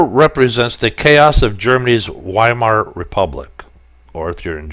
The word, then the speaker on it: Weimar: W in German language the W's are pronounced with a V so it'd be the German biomart Republic and provide the